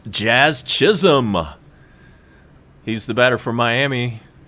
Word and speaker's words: Jazz Chisholm: And it's Jazz Chisholm. He's the batter for Miami. You got to be careful how you say his name. You might get it backwards. Like Chaz Chisholm, would be something easy